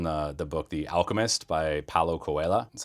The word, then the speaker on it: Paulo Coelho: That's from the book, The Alchemist by Paulo Coelho.